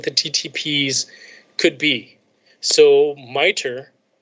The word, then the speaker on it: MITRE: ttps could be so miter they pronounce it miter m-i-t-r-e as what you pronounce it miter so miter has this